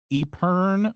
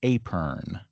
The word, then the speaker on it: epergne: So it's spelled EPERGNE, and I'm pretty sure that there are actually two options I have for pronouncing it. I can't remember exactly whether it's Epern or Apern, but it's something along those lines. Epern or Apern, EPERGNE.